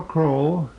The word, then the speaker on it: Crowell: to you from the home of Mr croll the cusp that name is spelled c w l Mr is one